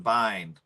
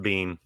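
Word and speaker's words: Biehn: else I was saying Bine it's pronounced bean bean yeah Bean okay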